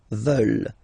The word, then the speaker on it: veulent: And the last one, here, EU, and then ENT, classic ending, but then you don't pronounce it, so you get veulent, veulent.